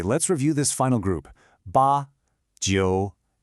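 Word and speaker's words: 八: It's pronounced ba and again with a high flat tone.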